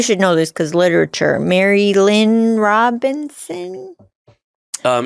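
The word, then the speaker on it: Marilynne Robinson: know this cuz literator Mary Lynn Robinson um is that how you pronounce her name yeah yeah it has a question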